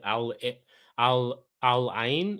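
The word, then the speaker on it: Al Ain: Because obviously you guys played Al Alin. Is that Yeah, that's how you pronounce it.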